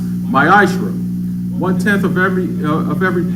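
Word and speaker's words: מעשר: it means 10th in hebrew is pronounced maisha one tenth of every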